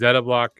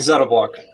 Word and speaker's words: Zettablock: This is Zettablock or I'm saying that right, Zeta will ask them.